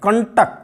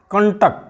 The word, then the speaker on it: कंटक: देखिए ट है, टा के पहले अनुस्वार का देखिए ना की आवाज़ आ रही, कंटक, कंटक, कंटक, कंठ। अब ठा के पहले है, देखिए ठा वर्ग जिस वर्ग में है उसका पंचम वर्ण न है, तो कंठ।